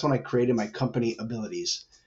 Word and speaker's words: AbilitEase: So kind of fast forward to 2013, that's when I created my company AbilitEase. And it sounds just like the word abilities, but it's spelled with EASE on the end, which is meant to be ease of ability.